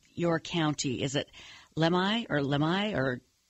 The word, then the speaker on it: Lemhi: Is it Lemhi or? Yeah, Lemhi. Lemhi, just exactly like how it's spelled.